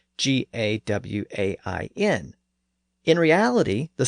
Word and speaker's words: Gawain: In fact, in this particular poem, the poet spells it several different ways, but it's usually spelled G-A-W-A-N, implying that the pronunciation was more like Gawain, which is another common pronunciation today.